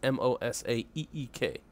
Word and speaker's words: Mosaeek: say it mosa eek mo sake I like mosaic but we're all gonna have different ways to say it but it's MOS AEK I'll show what you